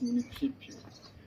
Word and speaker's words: municipio: Sauf qu'en italien, ça se prononce municipio.